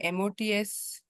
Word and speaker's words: mots: MOTS, we pronounce it as mot.